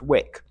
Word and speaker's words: wic: If we split the word in two and ignore the sand part, we're left with WIC, pronounced wick.